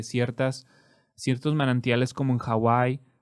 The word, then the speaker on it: Hawaii: ciertos manantiales como en Hawaii Perdón se correcta pronunciación es Hawai pero lo decimos Hawaii no donde en Hawaii